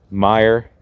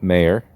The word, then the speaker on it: Meyer: Meyer is pronounced Meyer, not Mayer, not some other mispronunciation of it.